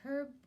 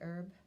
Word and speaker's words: herb: this morning there's a herb walk so I guess you Americans say herb herb walk next Saturday and